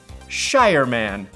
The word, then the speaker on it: Shireman: my last name rhymes with fireman. Shireman.